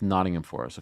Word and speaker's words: Nottingham Forest: up first of all it's Nottingham Forest okay that's what the locals say uh forest's gonna stay